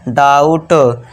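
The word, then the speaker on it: doubt: यहां जो बी है ये साइलेंट रहेगा। डी के लिए ड कर दिया। औ का साउंड हमने लगा दिया। डाऊ हो गया। औ का साउंड लगा दिया। डाऊ और बी साइलेंट है टी के लिए ट।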